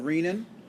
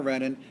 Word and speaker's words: renin: make a hormone called renin or renin you'll hear it pronounced both ways renin or renin and this is going